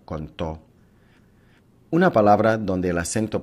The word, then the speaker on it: contó: Una palabra donde el acento prosódico recae sobre la última sílaba se clasifica como una palabra aguda. Un ejemplo de una palabra aguda es la forma verbal contó.